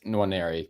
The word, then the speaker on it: Nwaneri: I think it's Nwaneri because phonetically saying N and W back to back is difficult.